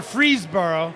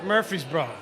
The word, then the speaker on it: Murfreesboro: it's not from a freeze borough how do you say it it's murphy's ball is that right yeah yeah is is that the right murphy's bro yeah murphy's bro not mcfreeze bro for you bought if